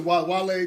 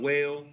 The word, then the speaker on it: Wale: Not whale, not wall, but Wale.